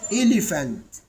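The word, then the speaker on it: elephant: نطقتها فون عشان نوضح زي كلمه اليفنت الي الي الي فانت فانت فانت اليفنت يعني فيل فتنطقت المقطع بي اتش اتنطق اف اليفنت اليفنت يبقى البي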